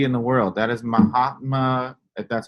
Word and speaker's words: Mahatma: like to see in the world that is Mahatma that's how you say his name Gandhi that